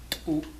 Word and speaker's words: txu: So in order to pronounce it accurately, the first step is to make a T sound as loudly as you can without breathing. So it'll be, okay? And then you add the vowel.